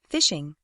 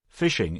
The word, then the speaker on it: phishing: we should explain that even though the pronunciation is the same this variety of fishing is spelt with a ph and not an f right phishing is quite a recent